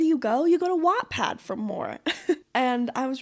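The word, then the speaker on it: Wattpad: also the spelling of Watt Pad because it's actually W A T P A D. I'm from Utah, so obviously I don't pronounce the T's. But anyways, back to Wad.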